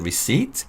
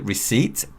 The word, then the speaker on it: receipt: And after this, to ask whether you have the receipt, the store worker can ask this question. Do you have the receipt? When you pronounce the word receipt, P is silent.